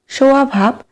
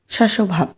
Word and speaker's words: স্বভাব: গৃষ্টধ্বনি 16 নম্বর প্রশ্ন স্বভাব শব্দটির উচ্চারণটি হল স্বভাব সোয়াভাব সসভাব সোয়াভাব এখানে স্পেলিং করে একটু দেখবে এখানে সঠিক আন্সার হবে সি সসভাব 17 নম্বর প্রশ্ন আইস